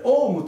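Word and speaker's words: オーム: 単位これですねこれはなんと読むかこの趣旨はこれオウムと呼びます home これから勉強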